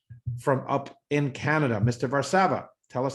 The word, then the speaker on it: Varsava: As he corrected me earlier, the accent is on the second A. From up in Canada. Mr. Varsava, tell us how things are going over there.